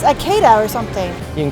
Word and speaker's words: Ikeda's: and an a akita the i is pronounced e and the e is pronounced a and the a is pronounced ah so it's ikedas it's a keda or something you can